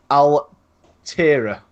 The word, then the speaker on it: Altera: And this is the next one, which is the Vertigo Altera. And I say that because it's spelled capital A, L, capital T, E-R-A, capital S.